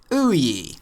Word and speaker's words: OUYA: the somewhat familiar name of OE pronounced o ye in fact the name